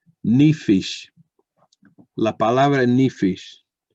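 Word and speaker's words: נפש: o apetito por la palabra en hebreo se pronuncia ni fish la palabra en ni fish en hebreo encontramos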